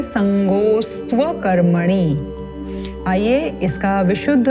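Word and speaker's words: सङ्गोऽस्त्व: पुनः यहाँ पर अवग्रह का चिन्ह है, इसको जोड़ते हुए उच्चारण करेंगे। संगोस्त्व कर्मणि मा कर्म फल हेतुर भूर्मा ते संगोस्त्व कर्मणि।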